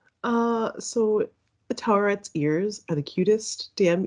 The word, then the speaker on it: Taweret: Taweret. Yeah. Okay. And that's I looked it up. Everyone's pronouncing it differently. It's can also be spelled Taur. So I think Taweret is like the closest.